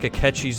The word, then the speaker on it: Akechi: I feel like Akechi's the one who shot Okamura. That Akechi's been the one that's been being used by Shido to do all this stuff. Akechi rhymes with sketchy.